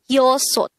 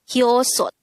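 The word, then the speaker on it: 여섯: Next, the native Korean version of number 6 is yosot. Again, yosot. This is composed of two syllables. The first syllable is yo, the second syllable is sot. Pronounce it with me. Yosot. Yosot.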